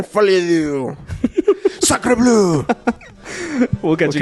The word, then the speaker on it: Folie à deux: And we'll see how Folie à deux does. I don't know why I say it like that. Because it's French, man. Folie à deux.